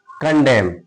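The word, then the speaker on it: condemn: हिम कंडेम सी ओ एन डी ई एम एन क्या पढ़ते हैं इसको?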